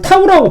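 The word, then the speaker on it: τ: 그래서 이걸 타우라고 보통 읽어요. T자 같이 생긴 거. 이걸 타우라고 읽어요.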